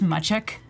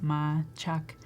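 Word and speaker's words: Mačak: name a little complicated it's my check my check it's Serbian for like a tomcat so yeah but a lot of people can't pronounce it my Chuck so um they call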